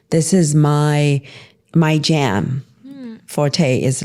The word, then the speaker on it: Forte: Yes, forte. Um it's a French word. Forte. Forte. It's like strong, right? Um no, it's it's like if I said this is my forte basically.